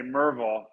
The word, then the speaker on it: Maryville: when i moved here it's maryville right but all the locals say mervil and i just and